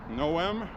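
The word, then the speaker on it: Noem: Kirsty Gnome said today, Christine Gnome, Noom, that's how our name is pronounced, not Gnome, it's no maid that these people should be arrested.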